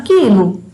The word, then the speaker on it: quilo: Por exemplo, vou dar um exemplo na palavra quilo. Quilo é como se não tivesse a letra U.